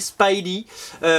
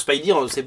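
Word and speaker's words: Spidey: série qui s'appelle donc Spidy c'est en France ça sort dans Spider-Man Universe numéro 4 Spidy ça s'écrit comme ça he c'est comme speed à l'époque vous vous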